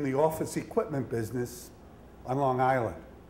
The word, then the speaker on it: Long Island: office equipment business on Long Island I'll say that again Long Island no hard G and we had this